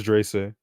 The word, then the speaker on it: Dreyse: It's Drace. Oh, I thought it was Wagon. It's spelled Dreyse.